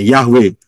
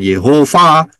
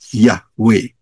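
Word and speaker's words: Yahweh: empat bacanya dari kanan Yod he wau he jadi bacanya yahwe bukan Yehova ya bukan yahua bukan Apa bukan yahoba atau Apap pun bukan salah semua itu yang betul adalah yahwe ya Jadi ini penting sekali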